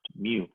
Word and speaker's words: mu: by a different variable right here and that's pronounced mu and it's calculated exactly the same way except